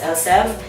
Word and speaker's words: Elseve: it right now, but they say that it's pronounced Elseve.